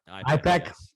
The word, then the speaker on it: IPEC: You pronounced it IPEC? Yeah. IPEC, yes.